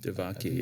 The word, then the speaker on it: Devaki: Devaki, That's how you pronounce this.